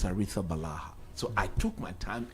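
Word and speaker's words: Arrizabalaga: and I requested for the Spanish pronunciation of the name. Yeah. And it was clear. With the Balaha.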